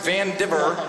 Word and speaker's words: Vandever: a bear we got vandever pronounced van diver and we got fashion